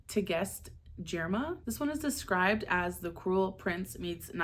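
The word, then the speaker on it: Tigest Girma: So March's prompt is vampires, and I'm going to read Immortal Dark by, I believe it's pronounced Tegest Jirma.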